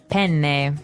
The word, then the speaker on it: penne: All right, so how do you pronounce we said penne in in English in American English, but in proper Italian it would be penne. Penne. So you you you double pronounce the consonant.